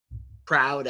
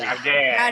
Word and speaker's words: Crowder: And then you didn't say it right, Ryan. Crowder. Crowder. That's right.